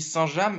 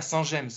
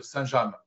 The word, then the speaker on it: Saint-James: Sénécal vous me confirmez qu'on dit saint-jam et pas Saint- gemes parce qu' il y a deux écoles j'ai jamais su laquelle était était la bonne non non on prononce saint-jam saint-jam est un village